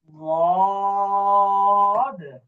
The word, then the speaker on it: ضاد: জি, দাল, دال دال দাল, دال دال ضاد، ضاد ضاد ضاد। একেবারে ضاد দদ দদ এভাবে না, দদ না, সরাসরি দদ হলে তো দালের উচ্চারণ চলে আসতেছে।